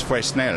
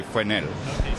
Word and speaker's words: Fresnel: fresnel lens or FR I hear two different pronunciations frel and fresnel I think English way is fresnel no okay yeah the French really just say frel we'll go we'll go